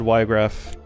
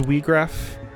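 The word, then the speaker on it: Wiegraf: not strong enough but I always said Wiregrass but um I think maybe in like the uh War the Lions version of tactics they specifically pronounce the name as we graph so oh [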